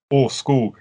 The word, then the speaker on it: Åskog: because we felt i'm sorry how do you pronounce the name of your band or skog i have been calling him asked everybody does